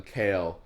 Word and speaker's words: Kyle: you know you know david lynch calls kyle mclaughlin kale because um dino de laurentiis couldn't pronounce his name oh that's funny so when they were making dude you know it's called kale and so now lynch calls him kale i should call you